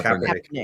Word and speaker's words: Kaepernick: Yeah, Kaepernick.